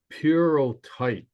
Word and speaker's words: pyrrhotite: And the word here is pronounced purotype. If you, it's weird. It's like a Greek word, but the first state